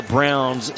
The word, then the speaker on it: Braun: gate from missouri hey why the browns spell their last name braun and how many times has this guy in his life had this had to say this uh that's it's pronounced brown you know every time